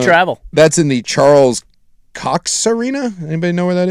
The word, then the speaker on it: Koch: Yeah, Charles Coach, maybe? Okay. Is it Cox or Coach? What is it? How do you spell it? Well, it's really tiny it's Coke.